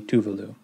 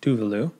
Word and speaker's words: Tuvalu: informed reading so it does seem to be tuvalu tuvalu so this is another Pacific island so